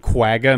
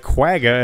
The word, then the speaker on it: quagga: high-pitched whooping sound that doesn't sound like quagga at all yeah there's